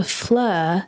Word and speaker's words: Fleur: That's right, Flur.